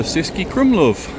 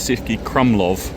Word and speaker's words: Český Krumlov: Welcome to Cesi Krumlov. I think I'm saying it right. I used to say it's si crumblov, but don't think that's correct.